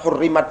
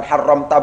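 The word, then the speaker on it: حُرِّمَتْ: dalam lafaz hurrimat itu ini bacaannya adalah hurrimat bukan haramta bukan haramti lebih disebabkan karena kita dipandu oleh Murad Murad itu menunjukkan atau menuntut kita untuk membacanya hurrimat bukan haramta bukan haramti bukan yang lain hurimat diharamkan alaikum atas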